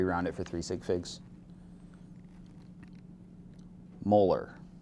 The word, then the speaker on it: molar: Again this reads as molar. We drop the idi when we pronounce it.